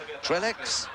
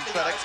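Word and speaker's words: Trélex: Trellex, the Trellex are coming in with a stick of dynamite. We're calling him Trellex, but of course you French buffs will know that the correct pronunciation is Trelle.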